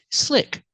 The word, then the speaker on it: slick: ice on the roads slick pronunciation use the short I sound like this is SLI SLI open Sound I slick the roads are